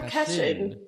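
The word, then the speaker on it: Cachín: How do I say Pedro Cachin? Am I saying it right? Pedro Cachin.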